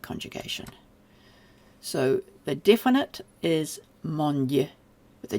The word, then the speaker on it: mondd: You do have to pronounce the D doubly long. It's not yet automatic for me, but it sounds a bit like mond.